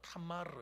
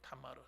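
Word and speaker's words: תמר: 그래서 이름도 뭐라고 짓냐 그러면 이 종려나무를 히브리어로 뭐라고 하는 타마르 이렇게 하면 타마르 따라합시다. 타마르. 뭐라고요? 타마르. 잘하시네요. 아주 발음을.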